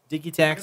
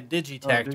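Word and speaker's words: Digitakt: have right what's that you said it right deke tax I I would prefer to say a digi tax but I understand they're Swedish and they want us to say it they get text so that's he'll say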